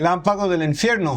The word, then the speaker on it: Relámpago del Infierno: I think I pronounced that right. Relámpago del Infierno.